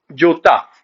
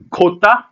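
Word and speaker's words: jota: जे का Spanish name होता है जोता। कहीं कहीं इसको प्रोनाउंस करते हैं खोता या फिर होता से।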